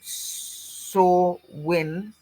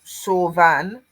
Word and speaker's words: Samhain: In Scotland, the Gaelic word is is soen pronounced sore win or san.